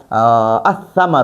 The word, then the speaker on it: الثمر: یو بله خبره دی کې واورئ، البیتو کې به مونږ دا لام باندې تلفظ هم کو، ال به وایو، ال. او الثمرو کې به دا لام نه وایو، دا حمزه به ډایرکټ د ثا سره میلاوه.